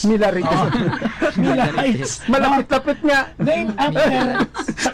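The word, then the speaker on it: Millerites: sektang ah millar rights ang spelling nito m i l e r i t s Kaya minsan ang pronounce ko dito m rites milar rites malapit-lapit nga Nam after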